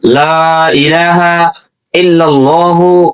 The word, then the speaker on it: লা ইলাহা ইল্লাল্লাহু: যদি বলেন লা ইলাহা লা এটা তিন আলিফ টানা এটা টানতে হবে কমপক্ষে এক আলিফ টানা ফরজ।